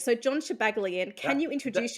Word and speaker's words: Shabaglian: It's Shabaglian. You did great. Shabaglian.